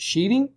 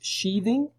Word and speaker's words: sheathing: Okay, most people pronounce it sheathing, but it is sheathing.